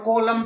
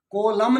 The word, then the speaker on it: column: और कोलम तो सबको पता है, कोलम भाई, कोलमन नहीं, कोलम, COLUMN, कोलम। कोलम मीन्स कोलम आपका, और न साउंड साइलेंट।